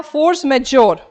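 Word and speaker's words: force majeure: है ये बड़ी बा फोर्स मेजर एक्चुअली बोलते हैं जे काफी बार साइलेंट आता है कभी-कभी कोई जे भी बोल देता है सो डिपेंडिंग आपका क्या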